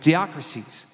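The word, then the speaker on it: διάκρισις: for the word discerning, it's diakrisis. That's a Greek word, how you pronounce it, diakrisis.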